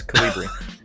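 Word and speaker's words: Kolibri: Also, Dilch told us how to pronounce it, so that's good. It's Colibri.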